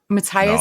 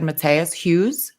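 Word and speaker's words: Matthias: you guys know how Matias Matas it's spelled Matias but I would have said Matas Hughes sure listen go with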